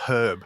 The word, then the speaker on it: herb: no it's it's herb yes it's a silent h right it's i yeah